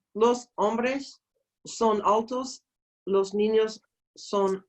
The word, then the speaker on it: hombres: los parties ha ha don't forget the H is silent okay los hombres los hombres son Altos los ninos